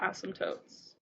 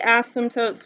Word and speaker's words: asymptote: a weird word a-s-y-m-p that p is silent you don't pronounce it a-s-y-s-t-o-t-e asymptote asymptote notice i didn't pronounce